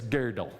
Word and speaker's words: Gödel: know it looks like gödel but it's pronounced like the women's underwear garment from yesteryear like girdle but it's girdle or something kind of